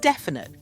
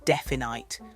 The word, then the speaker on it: definite: The word definite. You might think it's spelled definite, but nope, that middle vowel sound is unstressed, so it's easy to miss.